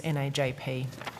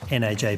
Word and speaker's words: NAJP: What's the preferred way of pronouncing the acronym for National Access to Justice Partnership? We have debated this at length, and we use NAJP. NAJP?